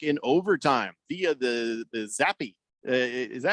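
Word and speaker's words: Zappe: beating the pack in overtime via the the zappy is that how you say his name zappy yep Bailey zombie that's embarrassing that is embarrassing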